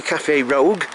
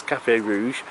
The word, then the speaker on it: Café Rouge: I always say Café Rogue because of my dyslexia, but I know it says Café Rouge, but I pronounce it Rogue because that's just me being funny.